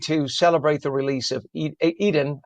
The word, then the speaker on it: Edan: In a moment of joy and relief, hundreds gathered in Tenafly to celebrate the release of Eden Alexander, or Adan, depending on your pronunciation.